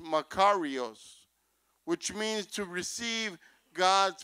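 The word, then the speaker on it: μακάριος: the word breath bless in the Greek is pronounced macaros which means to receive God's Provisions it means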